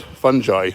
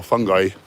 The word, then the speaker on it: fungi: between uh humans and fungi or fungi you can pronounce it either way apparently so paul stamets says and he's got a